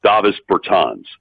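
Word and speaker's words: Dāvis Bertāns: thinking well first uh let's get the the new player's name correct obvious davis bertons yes that is that is how he pronounced his name uh my feeling at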